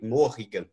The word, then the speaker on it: Morrigan: mulligan contra humor gás apesar dos dois erres a pronúncia não é rir né não é Morgan em more Memory morrigan é diferente falar o r é